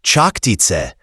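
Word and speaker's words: Čachtice: The castle of Chaktake, pronounced Chaktit, sits on a hill that still overlooks Slovak villages today.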